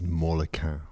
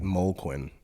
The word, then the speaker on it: Molequin: Well, okay, so interesting, because you pronounced it just then as a 3-syllable word, and I always say it Molequin as a 2-syllable word, a la Justin Hess.